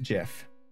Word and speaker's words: GIF: GIF slash gif um says that it's pronounced Jif which just hurts it